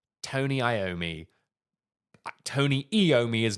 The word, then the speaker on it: Iommi: Now, I think I'm correct in saying that it is pronounced Tony Iommi.